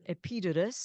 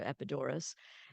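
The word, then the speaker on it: Epidaurus: and I was in epitus is how you say it in Greece or epidor and um my mom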